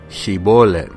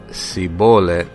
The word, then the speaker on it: Shibolet: Si respondías no le añadían pues di Shibolet, pero si no podía pronunciarlo correctamente decía sibolet, entonces le echaban mano y lo degollaban junto a los vados del Jordán.